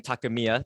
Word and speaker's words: Takemiya: Today we have Ryan Takemiya. Did I pronounce that last one right?